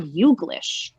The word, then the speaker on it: YouGlish: Rebecca said, why are you Glish or just you Glish? It's Youglish. Youglish.